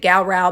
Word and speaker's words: Gowrow: purpose of this video we are going to pronounce it GAO because that seems to be the way that many historians and folklorists pronounce it the Gower I was described as